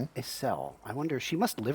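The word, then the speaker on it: Acele: As cell. I wonder she must live around here. Maybe in the shanty or in the church. What's her name? Asel. I was saying it right. Asel.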